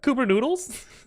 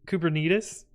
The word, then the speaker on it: Kubernetes: paying me then what Cooper noodles uh or as we would you'll come out uh it's kubernetes like diabetes but kubernetes or kubernutes those are